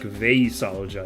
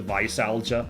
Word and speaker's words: veisalgia: like, in origin, so it might be like Veisalgia is how you're supposed to pronounce it. Or, you know, the Veis part is kveis, discomfort following overindulgence, Norwegian. And algia is like algos, pain, from Greek. What a weird word. Okay. But probably in English it, like, corrupts to Visalgia, so, yeah, I'm gonna go with that pronunciation for now.